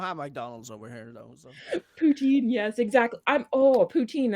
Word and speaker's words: poutine: it different from dirty fries like um putin is poutine it's literally it's just pronounced poutine okay okay okay okay i brought it it's